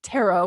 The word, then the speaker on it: tarot: get the modern day word of tarot with a silent T at the end so